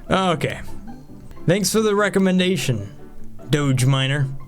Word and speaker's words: Doge: I guess technically that's Doge apparently is how you pronounce that one Doge Miner which is a slang term for dog not necessarily Dodge Miner Doge minor whatever dog